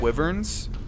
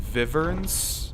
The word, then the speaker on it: wyvern: Skyrim are actually like wyverns I'm not sure if it's pronounced vivs no it's it's definitely wyvern if we're using the American pronunciation uh but yeah they're